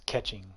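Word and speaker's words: Keqing: that girl catching um everyone pronounce her kuching she's not a slot machine it's catching okay catching so the lightning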